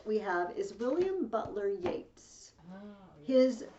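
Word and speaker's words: Yeats: the next poet we have is william butler yates his name is spelled yet but it's pronounced yates it's yates but that's okay okay i was gonna say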